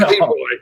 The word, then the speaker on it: Leroux: You don't pronounce the X, just Leroy.